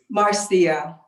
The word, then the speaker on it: Marcia: to it now uh is this marsha or marcia how do you pronounce it unmute yourself you still